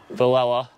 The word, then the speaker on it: Villella: fishing with the May of Turan himself valella is that is that your last name right